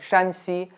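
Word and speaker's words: 山西: One is Shǎn xī and other is Shān xī, If you pronounce them in an incorrect tone, then you might reach at a wrong destination.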